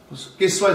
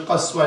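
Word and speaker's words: القصواء: Kiswa is one pronunciation, Qaswa is another.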